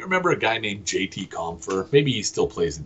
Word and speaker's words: Compher: Jessie Compher. Exactly phonetically as you expect it would to sound or to spell.